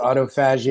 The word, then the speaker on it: autophagy: Some people call it autophagy. I think the medical term is actually pronounced autophagy, and it's basically when